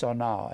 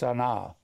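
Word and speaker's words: שָׂנֵא: It is pronounced sanaw, S-A-W-N-A-W. It looks like sane, but it's pronounced sanaw.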